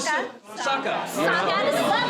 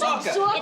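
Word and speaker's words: Sokka: We go from Soka to Saka. It's a little M. Night Shyamalan the way you pronounce it. I'm from back east. We don't really say things properly. It's Soka. It's Soka and Suki.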